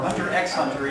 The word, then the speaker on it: Hunter x Hunter: Or Hunter x Hunter, even though the X is silent.